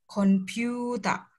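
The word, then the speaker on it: コンピューター: di Hiragana dan Katakana kalau ada strip di belakang hurufnya berarti dia dibacanya panjang jadi ini Kuta computa computa nah ini dibacanya panjang handphone Kei tai denwa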